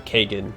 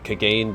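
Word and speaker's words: Kagain: So I do like Kagane, or Kagan, however it's pronounced in the first game. So I think I've always called him Kagane, but his name is actually pronounced Kagan.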